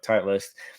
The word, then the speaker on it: Titleist: I don't know how you pronounce it. Titleist, yeah. Like Titleist.